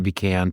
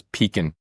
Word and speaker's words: pecan: I don't know, the episodes are running together for me, but we have established that the preferred pronunciation of that nut is pecan on this podcast.